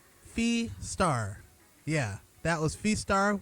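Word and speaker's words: Fiestar: That is Fee Star, kind of like saying fiesta and star together. Fee Star, yeah, that was Fee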